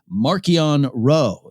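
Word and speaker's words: Marchion Ro: of the villains that actually got a correct pronunciation markian row is uh the eye of the nile already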